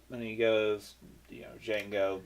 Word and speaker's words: Django: he goes you know Django the D is silent the guy that says